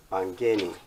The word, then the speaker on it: Mbangeni: I'm yet to pronounce the last name, but let's see if it's Mbangeni. Mbangeni. Mbangeni.